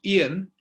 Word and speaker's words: Ian: It's pronounced Ian as in Indian, Indian. So those are the last three letters of Indian, are the first three letters of my name. Ian, spelled that way, pronounced that way.